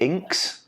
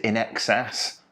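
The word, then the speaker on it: INXS: as we discussed previously is it inks or is it in excess how does one pronounce it i know that at least someone else uh also thought it was inks but it's not an excess like feeler the shoes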